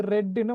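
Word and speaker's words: read: ரீடுட past tense வந்து ரெட்ன்னு வாசிக்கணும். உச்சரிக்கிற முறை வித்தியாசம் ஆனா ஸ்பெல்லிங் ஒன்று எப்படி வாசிப்போம் நீங்க? ரெட்ன்னு வாசிக்கணும்.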